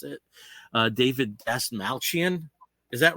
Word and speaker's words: Dastmalchian: name because I never had to pronounce it, David Dastmalchian. Is that right, Steve? You probably know. Dastmalchian? Yeah. Yeah, that's how you pronounce it.